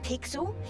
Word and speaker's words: Pixel: guy wow excuse me i'm pixel it's easy to remember because it rhymes with pickle so it does um